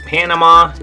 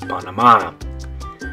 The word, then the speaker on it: Panama: So in English, it's Panama. In Spanish, you're going to say good, Panama.